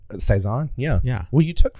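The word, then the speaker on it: Cézanne: um you should be proud that I actually pronounced that correctly Saison yeah yeah well you took French in high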